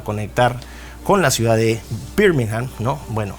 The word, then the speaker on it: Birmingham: con la ciudad de Birmingham no bueno se dice Birmingham pero la gente lo pronuncia como Birmingham Okay pero se llama Birmingham 1838 en 1841 Londres